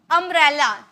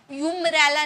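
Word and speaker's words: umbrella: next देखिए, अम्ब्रेला, क्या sound आ रहा, अम्ब्रेला, ओ का साउंड आ रहा, भले यूं लिखा गया, यूम्ब्रेला नहीं बोलते, ठीक है, हम क्या बोलते हैं, अम्ब्रेला, ओ का साउंड आ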